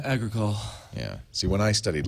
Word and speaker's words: Agricole: How do you pronounce that? Agricole? Agricole.